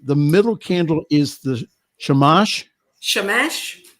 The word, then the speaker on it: shamash: that's awesome and again forgive me if i mispronounce this the the middle candle is the shamash shamash shamesh yes mesh that a rabbi from my area